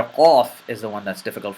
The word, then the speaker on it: Qaaf: But this letter, the letter Qaaf, does not have that exhalation of air.